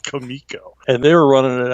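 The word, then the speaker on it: Comico: always explained it's pronounced kamiko because the guys that ran it were Italian so it helps you understand why it's called kamiko and they were running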